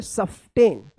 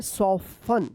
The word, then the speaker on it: soften: SOFTEN। क्या पढ़ेंगे? सॉफ्टेन। आप ऐसे पढ़ रहे होंगे सफ्टेन, लेकिन सॉफ्टेन ये गलत उच्चारण है। क्या पढ़ेंगे? सॉफन, सॉफन। क्या पढ़ेंगे?